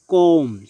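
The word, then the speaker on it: comb: ইংরেজিতে এমন কিছু ওয়ার্ড রয়েছে যেখানে বি সাইলেন্ট থাকে, যেমন কম, COM, কিন্তু খেয়াল করুন এখানে বি এর উচ্চারণ হয়নি, কম, চিরুনি।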